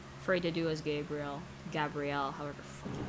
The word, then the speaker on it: Gabriel: Gabrielle, however the fuck you pronounce it.